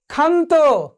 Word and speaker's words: ক্ষান্ত: ক্ষান্ত কার মতো উচ্চারিত হয়েছে, ক্ষয়ের মতো উচ্চারিত হয়েছে।